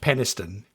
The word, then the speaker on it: Peniston: I'm almost certain it's pronounced Peniston, like the town outside of Barnsley.